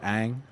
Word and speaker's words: Aang: Is that how you say it, Aang? Aang. Okay. Unless you're doing the bad movie adaptation, then it's Ong, but nobody. That's a joke. Ong. Okay, I see. No, it's Aang.